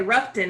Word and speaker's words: Rutherfordton: that i probably didn't did not pronounce all of the all of the syllables probably because i'm from around the way and i know how to say roughton and that's just kind of how we do it but no um in